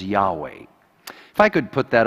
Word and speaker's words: Yahweh: God takes here the next step and he introduces his name that we in English pronounce as Yahweh.